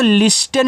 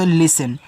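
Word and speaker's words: listen: देखो इसको लिस्टेन नहीं पढ़ना है। अब जिसको नहीं पता वो लिस्टेन ही पढ़ेंगे। यहां पे याद रखना टी आपका साइलेंट रहता है।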